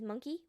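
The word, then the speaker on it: moncaí: the next one bye-bye Irish word of the day is monkey which means monkey it's spelled m o n c a i though so it's not spelled the same monkey who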